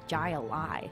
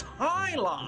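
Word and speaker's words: jai alai: What the heck is Jai-Ali? It's Hi-Li? It's pronounced Hi-Li!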